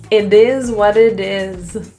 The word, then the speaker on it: it is what it is: The S's are all pronounced as Z, a Z, and the T's are all flaps, so they sound like D's. So instead of it will sound like id.